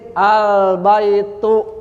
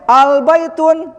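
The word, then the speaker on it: البيت: Albaitu dibacanya. Paham? Jelas ini. Nah, jadi kaidah ini kaidahnya yuh tanwinuli a tanwinnya dibuang ketika kemasukan albaitu. Jadi enggak boleh albaitun ini salah.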